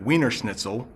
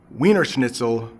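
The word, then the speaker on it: Wiener Schnitzel: quite hard to make I hear some people who are non-native English speakers use the sound is more like a a v so that's why wiener snitel might sound like V nle in the original German I'm not sure how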